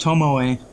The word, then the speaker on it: Tomoe: I just recently did one of the Tomoe, actually found out it's pronounced Tomoe paper, a Japanese paper out of this really nice linen.